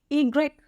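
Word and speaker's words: i grec: अब देखिए वाई की क्या प्रोनाउंसिएशन होती है, अगेन इट्स टोटली डिफरेंट। ईग्रेक, ईग्रेक, ईग्रेक।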